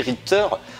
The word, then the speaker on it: Richter: Ça se prononce Richter, ouais.